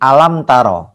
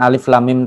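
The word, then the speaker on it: ألم تر: atau dibaca hurufnya alif.lam.mim Kalau di awal surat al-fiil itu dibaca bacaannya Jadi alamtaro bukan alif.lam.mim Taro enggak alam taro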